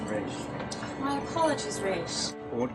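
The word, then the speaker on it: Ra's: It's a pleasure to meet you, Raj. The pleasure is all mine, but it's pronounced Raish.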